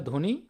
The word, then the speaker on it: ধ্বনি: শব্দের শুরুতে যদি বফলা থাকে তাহলে বফলাটা উচ্চারণ হয় না। এজন্য ধ্বনি ধ্বনি বানানে বফলা উচ্চারিত হয় না বাদে আমরা ধ্বনিটা এইভাবে লিখবো।